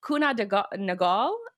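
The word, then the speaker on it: Kuehne + Nagel: It's Kuna Nagal is how you pronounce this company name.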